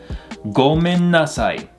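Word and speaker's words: ごめんなさい: Gomen nasai. This is actually gomen nasai. Gomen nasai. So that in sound is a little elongated right there.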